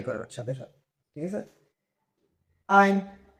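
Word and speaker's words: 爱: আমি বলব আপনারা ট্রাই করার সাথে সাথে ঠিক আছে আই আই আই মানে কি লাভ এটার অর্থ হচ্ছে লাভ ঠিক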